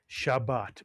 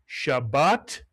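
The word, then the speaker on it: שבת: This is the word Shabbat, Mitsuyan. I'll remind you, it has two vowels. Therefore, it has two syllables.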